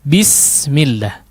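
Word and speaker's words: بسم الله: Betul sekali lagi, betul-betul menjadi huruf i ya, atau kasrah. bi, jangan b. Ya, bismillah. Tidak. Tapi disempurnakan. Bismillah.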